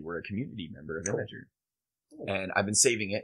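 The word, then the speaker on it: Imgur: say it I I I read a post recently that said imager it is imager it is technically maybe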